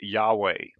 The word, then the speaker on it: Yahweh: the four letters and it's usually transliterated into y h w h and generally the understanding among scholars is that the most likely pronunciation of this would be yahweh so we're going to call it yahweh for the time being